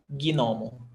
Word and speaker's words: gnomo: How do you say this? Gnomo, gnomo, as if it was 3 syllables, gnomo, but it's not because it's GN, so it's gnomo, okay?